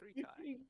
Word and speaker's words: 3Chi: That's the sponsorship we need, 3chi. it's pronounced 3Kai. Oh, Is it 3Kai?